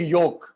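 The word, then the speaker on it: yolk: And last one इज एग योक. एग योक, उसमें आपका law silent है.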